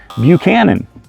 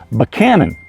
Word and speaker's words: Buchanan: you're in the area you'll look like an out of towerer when you say Buchanan you see we even change the names of our presence to meet our likings here in Virginia because we say banan now there's plenty of